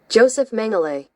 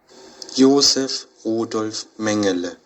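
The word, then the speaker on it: Josef Mengele: How do you pronounce his name? Joseph Mangle. Joseph M. That's the American pronunci. Yeah. Ysef Mangal.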